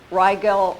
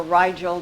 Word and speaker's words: Rigel: Nordics from Rigel or Rigel, depending upon which source of pronunciation you're reading.